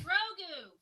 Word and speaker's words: Grogu: How's that pronounced? Grogu.